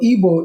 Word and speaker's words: Igbo: of Nigeria where EOS Igbo so I know the English spell it IB o but the correct word is igb O It's a b not a b so ebo is the language that